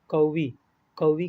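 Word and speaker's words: قوي: क़वी की स्पेलिंग में 'क़ाफ़' का उच्चारण भारी होता है।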